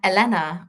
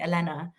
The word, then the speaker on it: Elena: a mixed background, but the name, like Eleanor or Elena, it's Greek, and that's how you should pronounce it. If you go to Greece and people see, if you like I have been, or to other parts of Southern Europe, they will call me Elena.